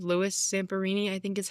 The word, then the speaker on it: Zamperini: Louis Zamperini, I think is how you say it.